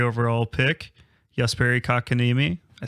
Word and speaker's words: Jesperi Kotkaniemi: The newest addition to the team, former number 3 overall pick, Jesperi Kotkaniemi.